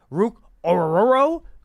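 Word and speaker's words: Ruke Orhorhoro: Penn State Michael Hall defensive tackle Ohio State Rook oruro Clemson defensive tackle I love that name so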